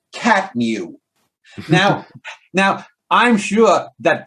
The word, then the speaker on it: CTMU: fans off and he even said the ctmu pronounced catmu now now i'm sure